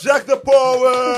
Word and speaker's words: Jack De Poet: Ladies and gentlemen, help me welcome in studio Jack the Poet. Did I say it correctly? Yeah. All right. Of course, Jack the Poet.